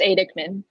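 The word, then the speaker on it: Aidekman: So you have a piece up at I'm gonna say the name wrong again. It's Adikman.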